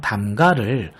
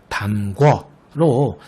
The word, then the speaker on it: 담가: 그리고 덧붙이자면 이 담그다, 마지막에 있는 담그다가 활용한 형태인 담가를 흔히 담궈로 잘못 발음하고 표기하는 경우가 많은데요.